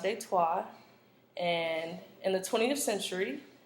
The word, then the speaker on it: Detroit: posts and New France Detroit's name is actually French and it's pronounced de tois and in the 20th